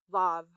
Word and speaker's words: Vav: After that comes V, pronounced vav.